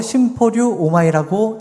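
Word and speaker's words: συμπορεύομαι: 15절에 동행하시나라는이 단어는 헬라어로 심포류 오마이라고 읽습니다.이 이 심포리 오마이는 같은 방향을 향해 호흡을 맞추며 걷다라는 의미를 담고 있습니다.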